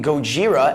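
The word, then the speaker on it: ゴジラ: I never heard that the fire breathing Gojira as it's pronounced in Japanese combining gorilla and kujira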